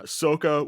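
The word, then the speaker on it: Sokka: pronunciation would be eero for the uncle uh soka would be correct in that pronunciation but here's the thing this takes place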